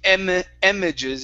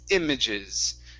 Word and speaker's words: images: that's much better so instead of saying em images it's images okay good um all right